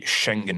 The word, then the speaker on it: Schengen: both sides 1985 the Schengen Agreement am i pronouncing that correctly yes okay sounds very German I wish Mark were